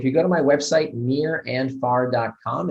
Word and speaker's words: Nir: go to my website near and far calm it's spelled nir like my first name so nir near and